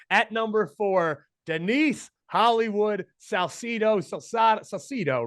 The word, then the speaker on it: Salcido: better than you at number four Denise Hollywood Salcido Salcido right Salcido was saying it right Salcedo go by the